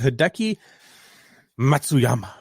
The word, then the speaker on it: Hideki Matsuyama: say that right yep i feel like i have to emphasize it just so i do say it right because if i try to just go through it i'm gonna say it wrong you won the masters